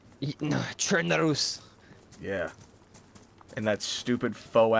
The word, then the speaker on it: Chernarus: Edward, But at first, your this was- your dad doesn't even know how to pronounce Chernaris. Chernarus.